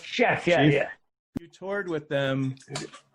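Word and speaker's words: Scheff: We wanted to go back and talk about the Mickey Dolenz and Jason, I don't know how you say it, Chef? Chef, yeah.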